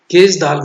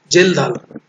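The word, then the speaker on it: Kjeldahl: protein is determined by Kage-Dahl method. You can pronounce whatever you want, Kage-Dahl or Gel-Dahl, K silent, Gel-Dahl, but Kage-Dahl is a common. Everybody used to pronounce it as a Kage-Dahl method.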